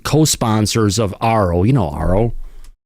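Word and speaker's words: AARO: You know, ARO rhymes with Charo.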